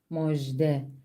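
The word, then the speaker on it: مژده: örneğimiz Mujde Mujde Müjde Bu kelimede H harfiyle bitiyor yine aynı şekilde H harfini telaffuz etmiyoruz D harfin altında e ses diyoruz ve şu şekilde telaffuz ediyoruz moj de küçük J harfini kelimenin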